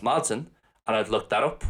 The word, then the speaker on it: maidin: I knew it was spelt Maidin, but I didn't know it was pronounced Madsen, and I've looked that up while I'm on Fuckler.ie.